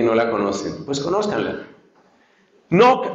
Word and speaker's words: Knock: Knock se escribe así como suena en inglés, K-N-O-C-K.